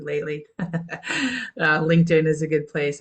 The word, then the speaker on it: Lately: um kitly a lot kly rhymes with lately LinkedIn is a good